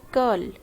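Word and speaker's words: curl: कर्ल कर्ल या फिर कर्ल कर्ल, आर की आवाज साइलेंट है।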